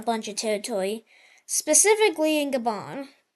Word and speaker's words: Gabon: The Yellow Team is also going to try and get a bunch of territory, specifically in Gabon. Gabon. Oh, just pronounce it Gabon. Yeah, like that.